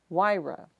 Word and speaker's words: WRIA: The acronym WRIA is most often pronounced WIRA.